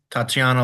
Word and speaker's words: Tatsiana: So just to answer the board's question, the owner of Elegance is Tatiana Lazovic.